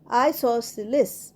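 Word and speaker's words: isosceles: next I এস ও এস সি ই এল ই এস আইসোসিলিস আইসোসিলিস আইসোসিলিসে সি উচ্চারণ হবে না আইসোসিলিস সি উচ্চারণটা না হয়ে সেটা হবে সিলিস আইসোসিলিস আইসোসিলিস মানে সমদ্বিবাহু ত্রিভুজ উই স্টাডিড আইসোসিলেস ট্রায়াঙ্গেল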